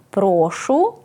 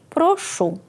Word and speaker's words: прошу: спо це різні слова дієслово прошу з наголосом на останній склад означає висловлюю прохання спонукаю до дії наприклад прошу надати мені відпустку прошу починати прошу говорити тихіше а прошу з наголошеним першим складом це етикетна формула те